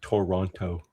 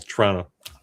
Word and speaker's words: Toronto: Not Toronto. Here it's kind of like, it's almost like one syllable. Toronto.